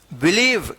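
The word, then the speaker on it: believe: बी ई एल आई वी ई वी ई बिलीव क्या पढ़ेंगे इसको बिलीव बिलीव ठीक है तो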